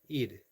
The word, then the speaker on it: Eid: EID, aid, eid. I've heard it pronounced, and right now it's slipping my tongue and my brain.